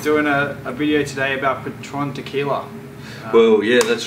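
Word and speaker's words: Patrón: So just to warm things up a little bit, I thought we'd have a chat about Patron, as it's properly pronounced, Haydos.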